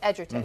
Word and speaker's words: Edgerton: It's Edgerton, who was in Loving, right?